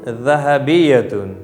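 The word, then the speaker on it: ذهبية: इस ज़ाल अल्फ़ाबेट का प्रोनाउंसिएशन इसमें विसल नहीं आनी चाहिए। जैसे ज़रक़ाउ में आया था तो उसमें जितनी विसल आएगी that will be beautiful, but इसमें आपको विसल एकदम नहीं लानी है।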